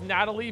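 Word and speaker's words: Gnatalie: It's Natalie, but it's spelled GNAT, with a gnat, Zig, thanks for the 26 months.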